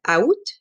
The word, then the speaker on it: août: It's 3 vowels and 1 consonant, which is silent. You might hear some other people call it or pronounce it out. In Quebec, we say ou.